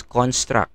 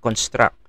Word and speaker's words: construct: You pronounce this as construct, okay? Not construct. Construct kasi verb yun, no? We are using this as a noun.